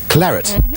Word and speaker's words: claret: of a red wine often mispronounced with an a on the end instead of an et because of the french derivation blue team larry claret also cockney slaying for